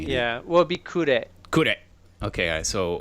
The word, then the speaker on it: Kure: Yeah, well, it'd be Kure. Kure. Okay, so Kure.